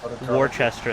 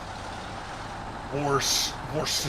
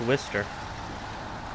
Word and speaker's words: Worcester: People pronounce it worchester sauce. And there's no h warster sauce. It's just pronounced wister.